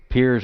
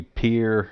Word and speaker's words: Pierre: Pierre's got two different pronunciations. And it really should be Pierre. I say Pierre sometimes because my stupid phone doesn't recognize Pierre. So I started saying Pierre. Anyway, yeah.